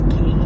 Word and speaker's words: Quay: they are key or Quay pretty sure like the correct pronunciation is key is this like Australian